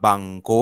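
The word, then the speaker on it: banco: औतोतोबुस अवतोबुसतोबुस okay बांक बांको अंतोबुस बांको हां कॅपिन Spanish मध्ये एक मिनिट सचिन अ स्पॅनिश मध्ये ना अ साउंड नही है फक्त आ साऊंड आहे त्यामुळे ब्या नाही बांको कापिताल सिने आणि दिक्सियो नारियो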